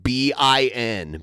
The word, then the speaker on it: Ben: And yes, by the way, he does say my name like it's spelled B-I-N. Bin. That's kind of a Southern thing.